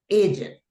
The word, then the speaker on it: Egypt: Cuando es una E y sigue una consonante, pues la pronunciación de esta palabra es I, ¿verdad? Y por eso es Egypt. Y a veces viene la confusión que la gente dice Egypt. No, Egypt.